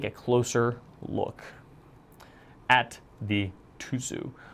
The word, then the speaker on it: Tuzu: closer look at the tuu which I believe is more accurately pronounced as tudu tuuu but I would have